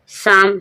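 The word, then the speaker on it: psalm: पी के बाद जब एस आता है पी साइलेंट हो जाता है, साइकोलॉजी। शाम, शाम मीन्स भजन, यहाँ पर आप देख रहे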